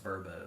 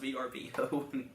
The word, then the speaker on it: VRBO: you seen the verb you know it's pronounced verbo yeah at the meeting they were talking about verbo yeah they were talking about travel plans for the competitive team and L she says yeah we're probably gonna huh the Pres the president like we're probably going to get this VRBO for the for the thing and we're just we just all laugh it's like I'm pretty sure it's pronounced VB like no it's not no